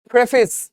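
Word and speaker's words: preface: থাকে সেটা কি বলে প্রেফিস উচ্চারণটা প্রেফেস যদি বানানটা প্রিফেস এরকম বাট মাথায় রাখব বুকের শুরুতে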